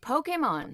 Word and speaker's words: Pokémon: I played various Pokemon. You're saying it wrong. You realize you're... Pokemon.